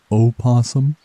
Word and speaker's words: opossum: silent or maybe isn't it supposed to be pronounced opossum it seems as though it is a bit